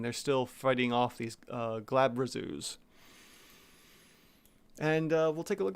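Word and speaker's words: Glabrezu: Hopefully I'm pronouncing that correctly. Let's see here. Glabrazu. Okay, so it's Glabrazu.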